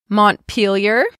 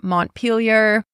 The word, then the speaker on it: Montpelier: Next, we have Montpelier.